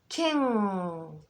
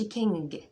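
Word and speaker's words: king: مع بعض بعض بعض كين كين كين كين كين كين كين ما بقولش كينج ما بقولش كينج ما بنطقها امال ايه بقفل عليها مراخين بطلعها من مراخين مكتومه ك سمعتي كده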